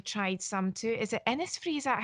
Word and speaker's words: Innisfree: Is it Innisfree? Is that how we pronounce it? Innisfree, yep, I Yes.